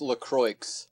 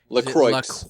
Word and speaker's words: LaCroix: I think it's pronounced LaCroix. Actually, LaCroix. LaCroix.